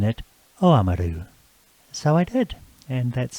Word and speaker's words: Oamaru: Before we start the show, I noticed, Frank, that you pronounced Oamaru as Oamaru.